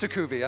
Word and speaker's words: Tukuvi: Today I learned how to pronounce that properly. I'm not going to even tell you what I said earlier, but it's pronounced Tukuvi, and thank you for being patient with me.